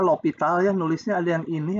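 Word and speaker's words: L'Hôpital: Ini bacanya L'Hopital ya, nulisnya ada yang ini, ada yang ini.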